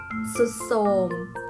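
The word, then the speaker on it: ทรุดโทรม: แท้ พยัญชนะ ทอน ทหาร ควบ กับ รอ เรือ อ่าน ออก เสียง เป็น เสียง ซอ เช่น คำ ว่า ซาย ก็ อ่าน ว่า ทราย พุทรา อ่าน ว่า พุทรา ทรุด โทรม อ่าน ว่า สุด โทรม ยก เว้น บาง คำ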